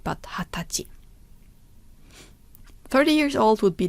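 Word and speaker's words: 二十歳: old is pronounced so there's no Sai because it's already included in this pronunciation so please memorize that it's not need to say but Hatachi 30 years old would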